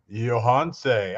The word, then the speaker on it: Yohance: It's Yohance. I'm pronouncing that right?